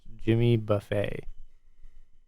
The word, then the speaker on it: Jimmy Buffett: but you i'm sorry you were pronouncing his name incorrectly it's pronounced jimmy buffet i don't know if